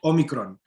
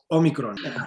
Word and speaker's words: Omicron: It's pronounced Omicron. It's not Omicron. It's not Omicron. It's Omicron.